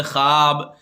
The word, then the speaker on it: خواب: اور واو معدولہ وہ واو ہے جو لکھنے میں تو آئے لیکن پڑھنے میں نہ آئے، یعنی اس کا تلفظ ادا نہ کیا ہو، جیسے خواب، درخواست، خواہش، خابیدہ وغیرہ لفظ کی واو.